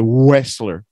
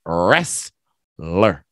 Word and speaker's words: wrestler: And even the W, we don't say wrestler, right? So the W is silent. The T is silent. It's wrestler.